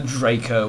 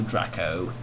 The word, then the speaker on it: Draco: the Draco, or the Draco, however you wish to pronounce it. I'm actually interested in the Draco a little bit. It's from, yes, it's Draco, it will be Draco, because it's from Italy.